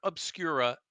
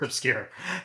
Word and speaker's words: Obscur: I always get this name wrong actually, so it's Claire Obscura Expedition 33. Right? You just got it Sometimes wrong. It's not did obscure. I? It's just obscure. It's There you obscure. go. Claire obscure.